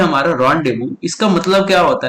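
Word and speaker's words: rendezvous: ठीक है, जैसे बहुत लोग ये वर्ड को रेंडेजवस पढ़ते हैं, लेकिन इसका जो रियल प्रोनाउंसिएशन है साथियों वो है रॉन्डेवू। ठीक है, इस वर्ड को हम क्या पढ़ेंगे, इस वर्ड को पढ़ेंगे हम रॉन डे वू। ठीक है, एक साथ रॉन्डेवू।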